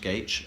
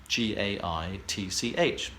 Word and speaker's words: Gage: It's pronounced Gage and is spoken as spelled Gaitch.